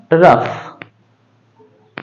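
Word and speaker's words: rough: है आर ओ यू जी एच तो इसका उच्चारण होगा रफ उसी तरह से टी ओ यू जी एच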